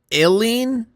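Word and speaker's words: Ilene: Is it Eileen? Oh, it is. I've never seen it spelled like that.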